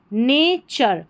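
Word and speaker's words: nature: नेचर, जब भी किसी स्पेलिंग के, बड़ी स्पेलिंग के लास्ट में TURE आ जाता है तो इसको चर करके आपको पढ़ना है। नेचर।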